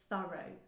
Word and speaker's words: thorough: word thorough, also pronounced thorough. Okay, so thorough is British English, and thorough, O, so a double, a diphthong, a diphthong if you want, a gliding vowel, thorough, that's the American way of pronouncing it.